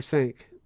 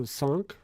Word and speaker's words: cinq: Or cinq. Chunk. Chunk? I think with the AH it's an ah sound, so sonk, but Kind of hard to really get it right.